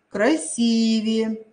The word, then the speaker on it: красивее: те слова которые использовались красивее но часто говорят красивее нет это не правильно говорим всегда с вами красивее звонит звонят созвонимся я